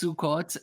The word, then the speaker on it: Sukkot: Everything is O instead of A. So it's Sukkot and what's the other one there?